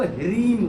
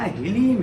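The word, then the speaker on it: ह्लीं: पढ़ते हैं ना, तो वहाँ याद रखना हीलीम है। हीलीम बगलामुखी। कहीं कि मैंने बगलामुखी उच्चारण में देखा, कई लोग हीरीम भी बोलते हैं, वहाँ हीलीम है। हा और लीम, लीम।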